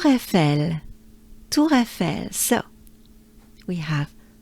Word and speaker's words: Eiffel: Eiffel, Eiffel. So here basically we have twice the sound E. E, E, E, E, E. E, E. And we merge them with a few consonants.